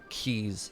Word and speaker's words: quay: bit nicer there yeah I don't understand how Keys spelled q u a y rhymes with trees but here we are